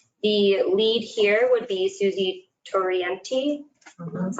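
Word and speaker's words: Susanne Torriente: The lead here would be Susie Torienti. That's how you pronounce it.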